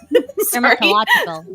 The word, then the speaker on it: dermatological: H Dermatological don't worry alcohol it's okay the stress is on the next syllable after that the terminological tol